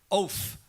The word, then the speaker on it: Oath: it there Alex the the official pronouncation is oath oath right so do you